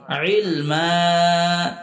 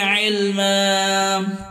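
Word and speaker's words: عِلْمًا: যদি ওয়াকফ করার শেষে এরকম 2টা জবর থাকে এবং পরে খালি আলিফ থাকে, তখন একটি জবর বাদ হয়, শুধুমাত্র এক জবরের উচ্চারণ করে পড়তে হয়। ইলমা, রব্বি জিদনি ইলমা, রব্বি জিদনি ইলমা।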